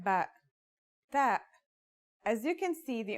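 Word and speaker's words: تاء: The pronunciation is like the English T, except you should release your breath with a strong burst of air.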